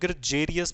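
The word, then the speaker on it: gregarious: और ये जो ग्रेगेरियस था, इसको बहुत सारे लोग ग्रजेरियस भी बोलते हैं। ज का साउंड भी निकलता है, हार्ड साउंड भी निकालते हैं वो इसका।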